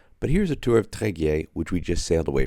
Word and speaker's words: Tréguier: Okay, we finally figured out how to pronounce the town. It's called Tréguier. Gail, do you want to try it? Tréguier.